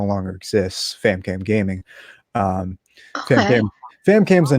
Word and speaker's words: FamKam: It stands for Film Animation Music, and the K stands for, my real name, and Cam rhymes with fam.